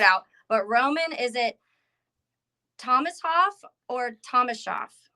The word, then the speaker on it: Thomashoff: to figure it out but Roman is it Thomas Hoff or thomasa Thomas shof there you go got it second time okay